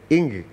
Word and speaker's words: Ng: la zona en Cantón en la zona donde es mi papá el apellido se pronuncia entonces bueno es completamente impronunciable acá se escribe una n y una G y bueno es un apellido que hay que charlarlo un rato viste Ahí está entonces ing sería la pronunciación muy bien muy bien